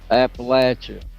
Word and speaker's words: Appalachia: Appalachia. and we call it Appalachia. Is that like the proper pronunciation or that's just the local fun way to say it?